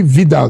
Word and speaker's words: Widal: There's what we call the Widal test. It's actually Vidal, the pronunciation, but it's Widal.